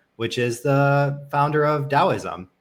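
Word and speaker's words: Taoism: is the founder of Daoism uh spelled taism in case in case you've seen it written but never pronounced before and there's just so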